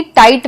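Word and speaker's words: tight: वैसे ही टाइट में जी साइलेंट है।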